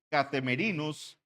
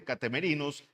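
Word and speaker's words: καθημερινῇ: en el idioma original y esta distribución diaria se escribe catem merinos como así k a t h e m e r i n o s catem merinos diaconía catem merinos diaconía Esa era la distribución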